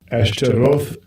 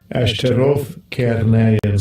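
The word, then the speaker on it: Ashtaroth: So look, it says asterat the pronunciation right now. This is just H 6252. Ashtarov says it again. Ashtarov.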